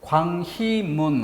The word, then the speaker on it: 광희문: 지금 여기 광희문 할 때 광희 발음은 음모음이 발음되지 않고 이모음만 발음되죠. 그런데 여기 와보면 UI라고 적는 걸 볼 수 있습니다.